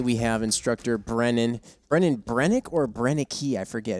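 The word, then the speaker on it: Brenneke: yeah yeah yeah uh brennick okay yeah so the E is silent on the end got it I should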